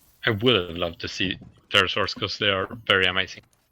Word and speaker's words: pterosaurs: would love to see pterosaurs because they are very amazing pterosaurs yeah like you know the biggest one was oh the size of a giraffe probably with a silent P P G oh yeah